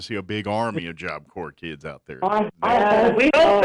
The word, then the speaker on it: Job Corps: And Job Corps has an S at the end, so it's JOBCORPS.gov. Yeah, it's silent when you say it, but it's not silent when you spell it.